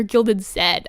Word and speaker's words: Gilded Z: Hello, Gilded Z. Or Gilded Zed. I remember I read on Twitter that's how you pronounce it.